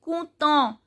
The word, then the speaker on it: content: Then content, en sound is on.